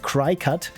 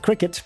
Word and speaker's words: Cricut: think for the longest time I called it cry cut until Frank said it's probably pronounced like cricket and yeah of course it makes sense that it's pronounced like cricketut.